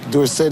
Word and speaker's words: Dorsett: And anyway, Dorsett is supposed to be a French name, and S-E-T-T spells set and not sit. So I think that is the correct pronunciation.